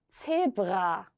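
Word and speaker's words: Zebra: 제브라 한 번 더 해볼까요? 제브라. 네, 근데 이거를 너무 강하게 안 하셔도 됩니다. 그냥 제브라, 요 정도로 하셔도 되고요.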